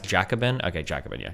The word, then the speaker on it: Jacobin: Yeah, it's pronounced Jacabin.